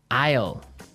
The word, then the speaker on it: isle: spelled so strangely right we don't pronounce the S the S is silent that's true ale so